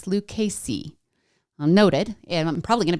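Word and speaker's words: Lucchese: It's not Luchese, it's Lucasey.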